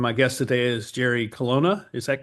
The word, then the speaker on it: Colonna: And my guest today is Jerry Colonna.